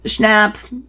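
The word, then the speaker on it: Schnapp: amazing Millie Bobby Brown Noah snap Wow yeah that's how you pronounce it sorry fan wolfhard and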